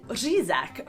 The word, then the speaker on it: řízek: Even though they keep up the tradition to buy the carp, many Czechs actually eat řízek for Christmas dinner, which is essentially schnitzel, but impossible for foreigners to pronounce, which makes it an especially Czech dish.